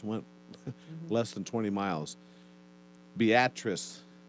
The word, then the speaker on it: Beatrice: interstate four hours went less than 20 miles beatrice it's spelled like beatrice okay but they pronounce it beatrice in nebraska like we pronounce milon instead of